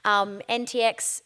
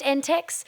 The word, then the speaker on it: NTEX: NTX, is it NTX or NTEX? Just NTEX. There's so many acronyms in so many different worlds. Sometimes I try to pronounce them and I'm wrong, but this one, NTEX. Like, yeah, cool. Not NTX or anything like that. No, NTEX.